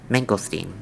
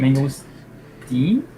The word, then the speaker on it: mangosteen: Mangosteen. It's I always see that in all Asian markets. Very tasty fruit. Mango steam? Yes, steam. How do you spell that? Mangosteen, like as in Stein, like Frankenstein. So mangosteen, just S.